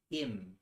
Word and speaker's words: hymn: that I heard were, I think you call them hymns. I don't know why some of them aren't called hers, but Hymn. Him. that is a weird way to spell it.